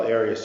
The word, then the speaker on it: Arias: Have you always pronounced it Arias? I've heard it pronounced about seven different ways. Um, I say Aras as does the rest of my family.